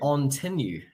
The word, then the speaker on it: Ontinue: So, I'm from Ontinue, former CEO and founder of Tiberium, but Ontinue is how you say that name.